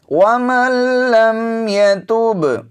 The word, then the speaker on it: وَمَن لَّمْ يَتُبْ: الْإِيمَانِ وَمَن لَّمْ يَتُبْ۔ یہاں پر دیکھیے نون ساکن ہے، تو اس نون کا ہم نے تلفظ نہیں کرنا، نون کو آگے لام میں ملا دیا گیا ہے، نون کا لام میں ادغام ہو گیا ہے، تو یہاں پر وَمَن لَّمْ يَتُبْ نہیں پڑھیں گے، وَمَن لَّمْ يَتُبْ اس